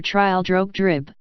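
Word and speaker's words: Trildrogdrib: tetryl drag dub or trial drug drip for it is pronounced both ways as near as I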